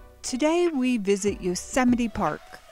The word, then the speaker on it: Yosemite: today we visit yosemite park which i accidentally called yozamite now let's see how